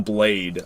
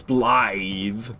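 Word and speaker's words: Blaidd: I just want to call him Blade out of spite, honestly. I know it's Blythe, because it's Welsh or whatever, but I just want to call him Blade out of spite.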